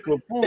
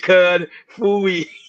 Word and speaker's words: Kafui: Oh, because I kept saying Kafui. He said Cud Fooey.